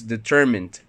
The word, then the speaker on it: determined: It's nasal and there's vibration, so you must pronounce it like a d. So this determined, and then disciplined.